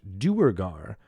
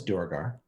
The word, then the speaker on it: Duergar: am i doing exactly it actually has two canonical pronunciations what it what is unusual one is Durga yeah there is where